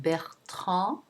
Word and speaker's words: Bertrand: Then we have Bertrand, en. That's the traditional way of pronouncing the back nasal A, en, en.